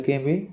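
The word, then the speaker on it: calm: एल हमेशा silent रहता है एल एम एल के में एल हमेशा साइलेंट रहता है स्पेलिंग के लास्ट में जैसे टोक अब इसको टोलक थोड़ी बोल रहे हैं अपनी वोक टोक चोक काम कालम नहीं काम ये तो अपन आम जिंदगी में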